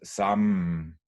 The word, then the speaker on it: samme: So what actually happens is that the final E is not pronounced, but the M is prolonged, and thus hjemme becomes hjemme in one syllable, and samme becomes samme in one syllable.